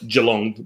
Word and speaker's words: Geelong: I was going to say your pronunciation is is jumping here, but Jalong one e that spelled with two, but pronounce it with one.